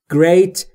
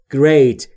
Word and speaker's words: great: Great یعنی عالی. دوستان تلفظش great، great نیست. بین جی و آر صدایی وجود نداره، پس شما هم صدایی اضافه نمی کنید.